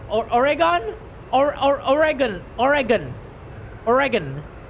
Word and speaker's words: Oregon: welcome to the channel they they just say the g like the one in grow or gas Oregon Oregon Oregon Oregon Oregon yeah or Oregon say origin origin that's why I said origin right if you use the J pronunciation I will personally strangle you what Oregon what Oregon